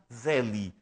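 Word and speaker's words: Selye: radicado no Canadá chamado Hans Celi na verdade Zeli se nós quisermos pronunciar a palavra em alemão Porque sendo austríaco certamente pela e pelo nome Certamente ele era falava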